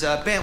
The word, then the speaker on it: Bengt: It is Bengt. We say Bengt. In Sweden, you would actually pronounce the G.